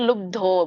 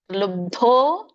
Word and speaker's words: ಲುಬ್ಧೋ: ಕರ್ಮ ಫಲ ಪ್ರೇಪ್ಸುಹು ಲುಬ್ದೊ ಇಲ್ಲಿ ಪ್ರೇಪ್ಸುರ್ ಲುಬ್ಧೋ ಬರುತ್ತೆ ಹ ಲುಬ್ಧೋ ಬಕೆ ಧವತ್ತು ದೊಡ್ಡದ ಇದೆ ಲುಬ್ದೋ ಹಿಂಸಾತ್ಮಕೋಶುಚಿಹಿ ಹು ಹ ಆದಮೇಲೆ